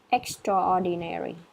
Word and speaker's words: extraordinary: Extraordinary. Yeah, extraordinary, Oh, it's extraordinary. extraordinary. Yeah, so try to combine A and O. Extraordinary. extraordinary. Oh, extraordinary. Okay.